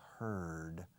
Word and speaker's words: heard: Rima con pájaro. Bird.